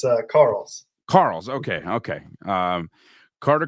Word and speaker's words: Karels: Carter carols how do we how do we pronounce the last name close it's uh Carl Carl okay okay um Carter Carl from gigum